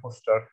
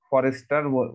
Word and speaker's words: Forster: তো যাই হোক, আমরা সেদিক না যাই, আমি একটু পরে ইএম ফস্টার কে নিয়ে, বানানটা একটু ভালো করে দেখবেন, ফস্টার বানানটা, বানানটা অনেকে ভুল করে, FORSTER, ঠিক আছে, ফরেস্টার বলে অনেকে, ফস্টার বানানটা একেবারে সুন্দর করে মনে রাখবেন, বানানটা যেন ভুল না হয়।